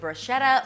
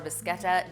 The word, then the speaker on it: bruschetta: Finally today, I am making a pasta salad inspired by bruschetta or Buscetta, depends on how you like to pronounce it.